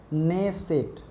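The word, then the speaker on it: Knesset: नेसेट, ठीक है, नेसेट, के रहता है साइलेंट, ओके।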